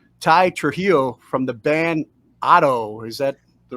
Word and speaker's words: OTTTO: now with Mr Ty Trujillo from the band Otto is that the right pronunciation yeah that's correct what's up how you